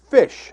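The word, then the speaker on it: Pysh: Number one, I'm going with David Fish. I believe that's how it's pronounced, P-Y-S-H.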